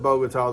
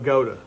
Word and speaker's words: Bogata: fun so um just outside bogat and I pronounced it bogatar the people from around there were quick to correct me and say that the town is pronounced Goa if it was pronounced bota it would have